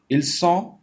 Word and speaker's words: ils sont: इल सॉ, टी साइलेंट, सॉ नून गुन्ना, nasal साउंड.